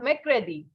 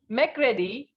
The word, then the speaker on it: mercredi: Although an R is placed, but pronunciation will not be pronounced. Okay, so we have Mercredi, means Wednesday.